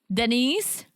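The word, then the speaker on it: Dnyce: sure her name is I'm sure her name is Denise but the way it's spelled it's like d n y c e yeah and he like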